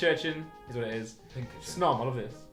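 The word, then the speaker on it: Pincurchin: Pink urchin. Snom, I love this. You say pinch urchin? Yeah, pink urchin. Pink urchin. Yeah, like an urchin. Yeah, pink urchin. I said pinch urchin.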